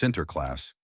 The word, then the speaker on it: Sinterklaas: The Dutch called him Sinterklaas, pronounced Sinterklaas.